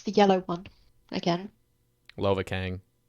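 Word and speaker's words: Lovakengj: I swear to God, like this Okay, is how do you pronounce the yellow one again? Lovakang. Lovacaine.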